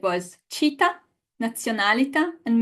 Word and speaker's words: nazionalità: Okay, guys, the correct pronunciation of these three words is città, città. Nazionalità. Nazionalità. Menu. Menu. And you know what? We don't need to guess it or to know it. The word tells us where the stress goes.